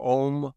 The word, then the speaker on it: Om: And in his teachings, he says that the pronunciation is ah, and then ooh, and then he says you're supposed to eat the M and take it down into you.